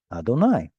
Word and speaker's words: Adonai: with me Adonai of course that's the rinic tradition to pronounce God's name as Adonai hi but anyone wants to